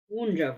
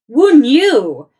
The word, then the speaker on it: Wunjo: Which Wunjo reversed. Okay. Wunjo reversed. Willow, Elhaz, Perthrow, Awas. I am very frustrated with myself. Ah, there it is. Wunjo reversed. Okay. Wunyu. Oh, wow. I have been mispronouncing it.